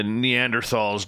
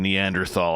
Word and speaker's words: Neanderthal: grunt much like the neanderthals did back in the day just makes it feel so much better yeah yep i still pronounce the h in neanderthal i can't stand it